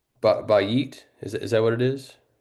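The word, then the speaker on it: בית: So for a house, and is it pronounced bayit?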